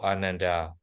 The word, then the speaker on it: Ananda: In Pali language, how should we say the name of Venerable Ananda? Ananda. It's also Anandat. Yeah, Ananda, Kassapa, Sariputta, something like that. We should pronounce their name without, long.